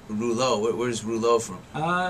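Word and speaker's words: Desrouleaux: spelled differently um my my real name is actually spelled D e s r o u l e a u x yes but it would just be too hard for people to pronounce so I just like Eng englished it now day is of so it's of Rulo where's Rulo from uh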